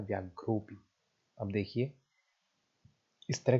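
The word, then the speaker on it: व्याघ्रोऽपि: दिखाई दे रहा है, इस चिन्ह का नाम है अवग्रह। और इसका प्रोनाउंसिएशन के टाइम पे इसका कोई प्रोनाउंसिएशन नहीं होता है, आपको इसे पढ़ते समय इसको इग्नोर कर देना होता है। आप शब्द को पढ़ेंगे व्याघ्रोपी।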